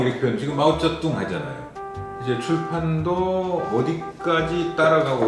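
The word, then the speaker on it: 毛澤東: 근데 중국 발음은 시진핑이잖아요. 저희들 어릴 때 배울 때는 뭐 모택동 이렇게 표현, 지금 마오쩌둥 하잖아요.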